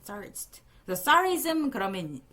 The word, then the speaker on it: tsarist: 이거 tsarist라고 이 발음 기호를 보면 이거 Z로 이렇게 읽거든. Z로 읽거든. 그지? tsarist.